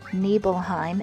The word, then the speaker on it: Nibelheim: is is you know because these words are Germanic in origin it's pronounced nebelheim and Mount Nebo foreign